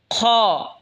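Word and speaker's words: خاء: এরপর এটা হলো খ। খ হলকের শেষ ভাগ হয়তো উচ্চারণ হবে খ।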